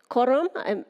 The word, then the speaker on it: Korum: And our last panelist, Korum. I'm not sure if I'm pronouncing your last name correctly. Welcome. Thank you so much. You're pronouncing it perfectly.